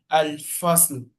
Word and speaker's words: الفصل: Al first, then the last one should show small. Al fasl.